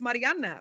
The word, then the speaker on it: Mariana: That's not actually, your name is Mariana, right?